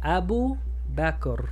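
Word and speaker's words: أبو بكر: Extensión de U por la wow después del doma. Abu. Ba con fatha, ba. Kaf con sukun, back. Back. Rr. Abu Bakr.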